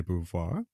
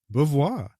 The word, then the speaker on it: Beauvoir: Encyclopedia of philosophy that Americans and Brits pronounce de bouvar differently if you're just referring to her last name apparently the UK prefers de bouvoir whereas the Americans just say bouvoir so you being an